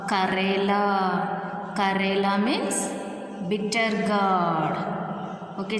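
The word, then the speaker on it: करेला: So, Ka, Re, La. Karela.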